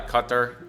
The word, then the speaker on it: Qatar: to enjoy this um not even to try to say it how uh everybody else does because that's the proper pronunciation but i don't it's like uh cutter yeah that was kind of that was kind of it um qatar qatar something like that you guys know who